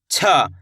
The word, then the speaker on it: छ: छ, कैसे पढ़ेंगे छ, जैसे कि छत, छतरी, छाता, छा, इसको अपन सिंपल पढ़ेंगे चा, इसको पढ़ेंगे छ।